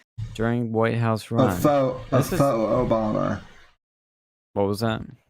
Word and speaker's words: faux: But Michael Cohen says Trump hired a Fox Obama, that's a Fox Obama, so a Fox Obama, during White House A run. faux Obama. What was that? A faux Obama. That's how that's pronounced.